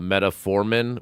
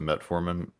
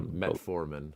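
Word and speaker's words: metformin: have a a fake version of it called metaformin which costs about 100 bucks a year if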